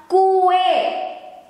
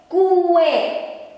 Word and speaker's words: kue: And this, the Indonesian word, the correct way to write it is like this, and we pronounce it as kue, kue. As cookie. And we have kue lapis,